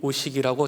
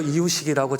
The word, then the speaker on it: 이우식: 우리 집사님 기도해 주시는데 제 이름을이 우식이라고 정확하게 발음해 주셔서 또한 감사하기도 어 했습니다. 어 말씀드렸죠. 이유식이라고 자꾸 발음을 한다고.